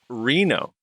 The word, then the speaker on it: Reno: anyway uh Reno said my name is pronounced like Reno REE and oh great podcast